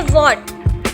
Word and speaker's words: what: जैसे यहाँ लिखा है वॉट, WHAT वॉट, वॉट के अंदर H यहाँ पर W के बाद H आ रहा है तो ये H चुप रहेगा, साइलेंट रहेगा, इसको हम नहीं बोलेंगे, बिल्कुल भी रीड नहीं करेंगे।